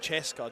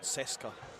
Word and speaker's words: Cheska: It's pronounced Cheska, not Seska, which would make sense because it's Francesca, not Francesca.